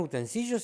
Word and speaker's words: utensilio: Y dice, no, utensilios. Y vos decís, no, utensilios sería si se escribiera con L. Claro. Como yo digo, por ejemplo, botellón. Claro. Pero utensilio se escribe como domicilio, por lo tanto, no podés dudar ahí. Claro. No hay utensilio que valga, es utensilio.